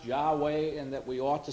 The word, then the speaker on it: Yahweh: Most translations put the Lord in there, but actually most scholars now hold that it was actually pronounced Yahweh and that we ought to see it in that sense.